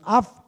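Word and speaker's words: אב: Darum heißt es ab als af ausgesprochen. Das B kann man auch als W aussprechen im Hebräischen.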